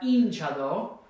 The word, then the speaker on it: hinchado: It's not hinchado or hinchado, it's hinchado because it ends in a vowel, and so we'll have the second to last syllable stressed.